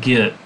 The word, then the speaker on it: get: like set bet met get wait what it was the first time in my life that i realized git is supposed to rhyme with set back met but i would never